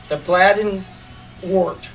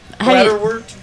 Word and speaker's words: bladderwort: It's called the bladdenwort. The bladdenwort. Bladderwort. How do you spell it?